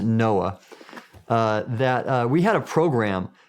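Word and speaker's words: NOAA: And so when I for example when I was with the National Oceanic and Atmospheric Administration we've pronounced it Noah uh that uh we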